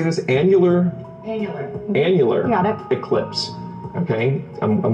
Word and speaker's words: annular: Annular.